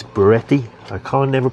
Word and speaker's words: Bluetti: I kept saying calling it Blue Yeti in the last one, but that's a microphone, but it's Beretti.